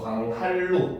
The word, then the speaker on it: 광한루: 니은은 리을의 앞이나 뒤에서 리을로 발음을 하는 겁니다. 그렇죠? 그래서 줄 넘기 같은 경우도 줄 넘기, 그렇지? 광한루 같은 경우도 광할루 이렇게 되는 거죠.